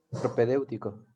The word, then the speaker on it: propedéutico: les dan como un ¿cómo se dice? Propedéutico. Así se dice, ¿verdad? Propedéutico. Propedéutico es la palabra, sí.